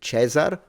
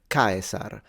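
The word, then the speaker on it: Caesar: a z and then the r should be trilled so Kar of course the C is a k he's very respectful I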